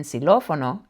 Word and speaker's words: xilófono: Here it sounds like the English X, but in xilófono it sounds like an S.